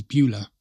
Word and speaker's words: Beaulieu: It's pronounced locally as Beulah, and the tranquil sloping nature reserve features winding trails, mature oak trees, open meadows, and a hidden pond.